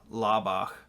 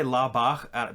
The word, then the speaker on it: Laubach: And I always say Laubach because it's the German in me. I pronounce that CH. Yeah. I think everybody would say Laubach with a hard K, but sorry.